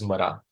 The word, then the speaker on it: Mara: where he belonged uh the word for death is is referred to as as Mara it's the two syllables M as in the m and ra as in R so when narad Muni